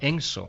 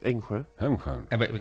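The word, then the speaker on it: Engsö: es el castillo de Enso. No sé si lo... Enjö. Sí. ¿Cómo es, Tom? Enjö. Lo pronuncia de una manera distinta.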